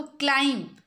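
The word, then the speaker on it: climb: उच्चारण समय रे उच्चारण कला बेले हमको साइलेंट लेटर मिल जाए। देखो समस्ते क्लाइंब कौन लिखा जाए? फास्ट लेटर देखो क्लाइंब।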